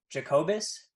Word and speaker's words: Jacobus: I just want to make sure I'm pronouncing your last name correctly. Jacobus.